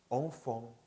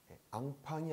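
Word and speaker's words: enfant: 샹, 샹, 샹피온, 샹피온, 엉퐁, 엉퐁. 앙팡이 아니에요. 한국식 표기할 때는 앙팡이라고 표기하는데요. 프랑스에서 발음할 때는 엉퐁, 엉퐁 하셔야 돼요.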